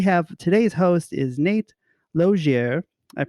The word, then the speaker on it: Lozier: Lozier is the French way.